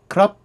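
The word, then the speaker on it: ครับ: realize, though, is that a lot of Thai people have difficulties pronouncing the R, especially when it's part of a consonant cluster, such as krup. Now, there are Thai people that will say krup, but then again, though, not everybody will say that.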